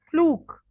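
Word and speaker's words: fluke: फ्लूक, आप इसे फ्लूक बोलेंगे, ठीक है? ओ समझे बीच में, यू Look, नहीं, ओ. फ्लूक, look, फ्लूक. Okay, a surprising chance occurrence, especially a favorable one.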